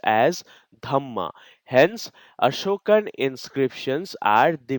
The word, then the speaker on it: dhamma: the principles of righteousness Dharma in pakit is pronounced as dhama hence Ashokan inscriptions are the main sources from